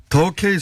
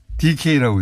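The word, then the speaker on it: 더K: 에듀카라고 돼 있는데 더라고? 더 K 손해보험인데 DK라고 읽으셔가지고 예.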